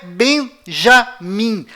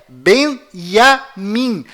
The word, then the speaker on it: Binyamin: Além disto, não é Benjamin. A pronúncia correta é Benjamin. Pois lembre-se, até hoje não existe em hebraico nenhuma letra com som de J.